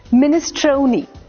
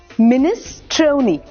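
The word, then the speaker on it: minestrone: आर ओ एन ई अब ये जो वर्ड है ना इस पर एमफसिस दूसरे हाफ में होगा मिनिस्ट्रो मिनिस टोनी तो आपको एमफसिस टोनी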